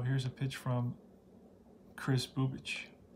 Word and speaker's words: Bubic: His name is Chris Bubic. B-U-B-I-C. It's pronounced Bubic.